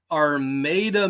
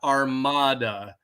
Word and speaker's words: Armada: Yeah, since we're on Michigan pronunciations, the RN2 poll this coming Sunday is in Armada, Michigan, not Armada. We're not Spanish around here. There's no Inquisition.